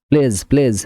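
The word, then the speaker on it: pledge: PLADG প্লেজ মানে প্রতিশ্রুতি, প্লেজ মানে প্রতিশ্রুতি।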